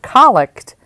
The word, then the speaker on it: collect: pray and the prayer that follows is the colic let's look at this a little bit further if you've ever asked your priest about this prayer called the collect and he corrected your pronunciation to colic he's right if you look up co ll